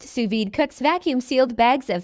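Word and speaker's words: sous vide: the same Suz V the Su VY pronounced suid Cooks vacuum sealed bags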